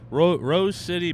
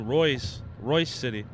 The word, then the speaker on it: Royce City: Rose City Buc-ee's. It's spelled crazy, too. Royce City.